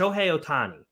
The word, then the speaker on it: Ohtani: Jon Porter and showy sh Otani right that's how you say it show yeah okay